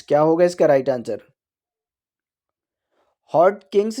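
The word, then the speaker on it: Hodgkin: पर है देखिए फ्रेंड्स यहां पर जी साइलेंट है ठीक है इसे हॉट किंग ही पढ़ा जाएगा ठीक है हॉट किंग्स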